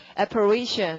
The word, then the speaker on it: apparition: 발음은요. apparition 이렇게 되고 자 동그라미 어디다가 PAR 해주시고 이 동사는 이거는 동사 무엇과 연관이 있는 것이다.